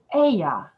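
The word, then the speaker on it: אהיה: that i am is written with four hebrew consonants a h y h speaking it we might say aya the verb begins with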